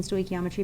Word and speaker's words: stoichiometry: these notes and examples are from reactions in stoy geometry packet page six so sto geometry is your license to cross that mole ratio